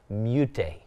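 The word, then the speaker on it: Meute: M-E-U-T-E, mute. I hope that's how you say it.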